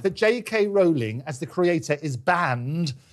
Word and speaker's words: Rowling: said is, don't apologise to me, J.K. Rowling, as in bowling, that's how you pronounce the name, but don't apologise to me, apologise to the women.